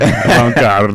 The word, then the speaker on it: avant-garde: Well, I mean, like, just you said it Englishly. Garde. I get it. Garde. Avant-Garde. I get it. Avant-Garde. There you go.